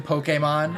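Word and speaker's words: Pokémon: You mean the official pronunciation, Pokemon?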